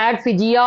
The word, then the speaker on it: adephagia: ஆடிஃபெகியா. ஆட்ஃபெகியா அப்படின்னு சொல்லலாம், இல்லைன்னா ஆட்ஃபிஜியா அந்த மாதிரியும் சொல்லலாம்.